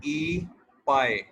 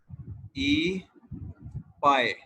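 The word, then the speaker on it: 一百: 100 को किस तरह से प्रोनाउंस करेंगे? 100 को कहते हैं ई पाए, ई पाए, ई पाए।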